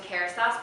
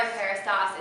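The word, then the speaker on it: Kérastase: And I mean, I'm very partial to Kerastase products.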